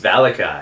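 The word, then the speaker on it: Vallaki: it rhymes see that's how you know it's pronounced valika it's not even the reason why but that's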